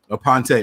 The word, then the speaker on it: Aponte: so but how do you say it apante aponte okay all right so i was doing a